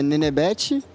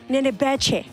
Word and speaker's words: Nenebete: Bom, como é que pronuncia é Nenebete e foi um apelido de quando eu era criança e acabou pegando, acabou curtindo e é isso.